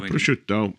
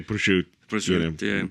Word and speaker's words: prosciutto: And did I pronounce that right? Or did my lips crash? No, prosciutto. And sometimes you say prosciutto, casually.